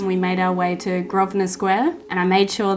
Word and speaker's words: Grosvenor: after Selfridges we made our way to Grosvenor Square and I made sure that I looked up how to say that because I thought it was pronounced grow spinner or gross wiener or something square because it's felt like it's